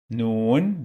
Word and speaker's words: Noon: Noon, this letter, its name is Noon. It sounds like N in English.